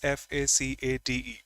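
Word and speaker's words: façade: of a building is supposed to be this f a c a d e. If I'm not wrong, the pronunciation is facade.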